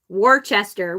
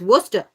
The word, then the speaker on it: Worcester: spell because like um when frank lived in worchester which is how it's spelled w o r c worchester that's how you but if you say that when you're there they're like what are you talking about it's worcester i'm like what how is it worcester exactly i'm a yup